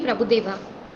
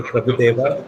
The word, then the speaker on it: Prabhu Dev: V Prabhu Deva. Small correction. It is my name. You are pronouncing that name wrongly. Please, it is not Dr. Prabhu Deva.